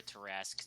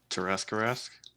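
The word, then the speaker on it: Tarrasque: Tarask? I always pronounced it Terraskew.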